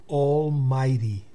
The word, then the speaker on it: almighty: Almighty, almighty, fíjense que my lleva... Se pronuncia mai porque la i lleva lleva la rayita encima, entonces se pronuncia en su forma original, que es ay.